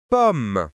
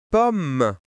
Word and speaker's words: pomme: Et le dernier mot, pomme. Ici, les deux m se prononcent comme un seul M. On lit pomme pomme.